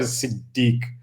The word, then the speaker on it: Siddiq: You will notice mine is Siddiq instead of Sadiq. So Siddiq, the actual Arabic pronunciation.